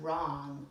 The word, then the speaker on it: wrong: a little bit tricky there's a silent letter it's the word wrong like it's okay if